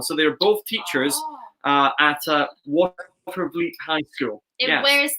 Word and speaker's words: Watervliet: Watervliet. Say that again. Watervliet. That one, yeah. Yes. Watervliet.